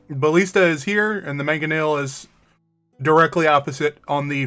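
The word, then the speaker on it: mangonel: Uh, manganil. It is going to be the um ballista is here and the manganel is directly opposite on the front of the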